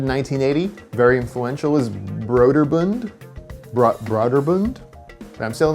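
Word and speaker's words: Brøderbund: in the thing now the company was actually called brooder bund internally to begin with even though it eventually became known as broderbund because it sounds better it doesn't sound like some sort of weird cummerbund beer mixture brooder bund all i know is that for most of my life i pronounced it border bound because i'm an idiot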